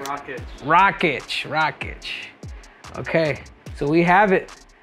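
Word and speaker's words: Rakić: Rakic.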